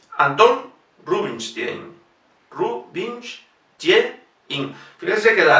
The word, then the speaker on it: Anton: Anton Rubinstein. Fíjense, Anton es aguda. Si fuese llana, se pronunciaría Antan. Sería incorrecto pronunciar Anton. Es Anton Rubinstein.